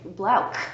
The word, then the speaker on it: Blouch: Well, It's crazy because they're Germans, so they're like, oh, ch. It's actually Blouch with like a hard K.